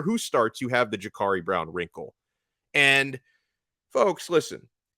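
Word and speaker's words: Jacurri: it his name is I don't care how it's spelled it's pronounced Jakari but no matter which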